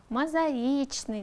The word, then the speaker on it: мозаичный: еще теперь думайте выдержу не верно выделена буква себя проверьте ударение правильно ставим все наверное вы уже догадались или узнали это же конечно же слова мозаичный вот здесь мозаичный должно быть практика продолжается мы чем